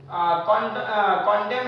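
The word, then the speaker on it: condemn: और कंडेम है। कंडेम निंदा करना एक तरीके से एन साइलेंट है।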